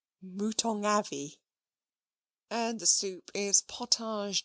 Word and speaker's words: mouton au navet: "Mouton au navet," added the butler gravely, "pronounced, if you please, mouton avis.